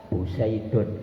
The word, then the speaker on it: Poseidon: senjata andalan namanya rodalesnik sama ee torpedo Pesodion bacanya piye Mas? Peseudion Poseidon Poseidon angel tulisan Poseidon ngih itu meskipun Rusia